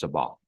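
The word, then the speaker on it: Sabbagh: BB a g h and it's pronounced Sabah Sabah thank you your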